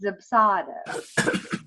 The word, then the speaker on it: Dubsado: And there's actually a funny blog because people say it wrong. There's a Dubsado, but it's Dubsado.